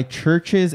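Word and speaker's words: CHVRCHES: up on deck is this new song by churches and robert smith they partnered up for this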